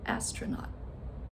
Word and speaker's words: astronaut: So, how about the word astronaut? Astronaut. Okay. So the schwa sound is that second syllable astronaut. Okay. And as you know that is spelled with the letter O.